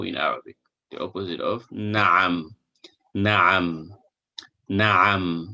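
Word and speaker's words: نعم: The opposite of na'am. Na'am. Na'am. Not na'am or na'am. No, na'am. Ayn is a throat letter. It is pronounced from the middle of the throat.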